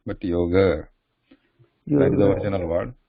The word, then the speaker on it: yoga: Yoga. It's not like father. Yoga. It's not yoga, but yoga.